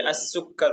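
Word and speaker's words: السكر: السکر حلو سکر نہیں ہے, تلفظ صحیح ہونا چاہیے. السکر ابھی ہم نے بتایا وہ لفظ السکر ہوگا, اس میں السکر پڑھیں گے.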